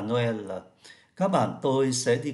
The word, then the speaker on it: Noël: Il y va aussi à Noël. Và Noël, ơ này là ô tréma. Chúng ta phải đổi tréma thì mới phát âm ra thành Noël được.